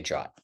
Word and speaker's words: JWT: Um, I might mess up and say it sometimes myself, but just so you know, pretty much anyone anywhere in coding does not say JWT, they say Jot.